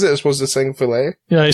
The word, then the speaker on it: filet: it was the same filet yeah I said Philip I think Phil it yeah and I was like what you know how that's pronounced that it's not pronounced to fill it yeah so I'm working